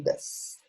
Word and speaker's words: does: Então, para interrogativa, a gente tem dois auxiliares, que é o do, o do, que está aqui em cima, e o das, D-O-E-S, pronunciado das, que eles não significam absolutamente nada, eles não têm nenhuma tradução.